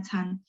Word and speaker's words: 餐: Ini hurufnya memang bacanya can.